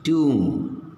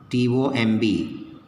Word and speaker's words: tomb: Okay, now, see here, tomb, T-O-M-B, tomb, B is not written here, okay, that is, B is silent.